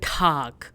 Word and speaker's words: Tag: Now for good day or good afternoon, we say Guten Tag. Guten Tag, which means good day or good afternoon. Now this is not tag, but rather Tag. T sound, Tag.